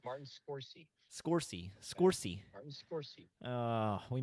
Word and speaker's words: Martin Scorsese: It's Martin Scorsese.